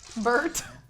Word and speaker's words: Bert: your charm your charm her name is Bert oh yeah because it sounds like the word bird yes bad okay we